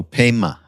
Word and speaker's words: Pema: we die yeah and is it spelled like Padma but with a Y instead of a d Padma no Pema but but it's spelled like Patton p-a-y-m-a no no p-e-m-a like it sounds oh c-h-o-d-r-o-n children there